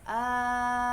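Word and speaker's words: الآن: Jadi cara bacanya adalah hamzah ini hamzah bertemu dengan huruf mad ya. Maka panjangkan dulu ini 6 harokat ya. A-nya panjangkan 6 harokat kemudian bertemu dengan sukun ya. Al-ana al-ana ya.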